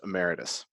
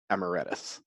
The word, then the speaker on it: emeritus: so there's that also it is pronounced emeritus not Emma Redis however the second thing